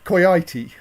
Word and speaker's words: coyote: end there you simon claire has said the o is pronounced like i so simon said um koiti what was your name coyote i think so yes look i learned my accent from radio 4.